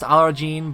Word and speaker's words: Aladdin: It's pronounced Arajin, but it's spelled Aladdin, so I don't know.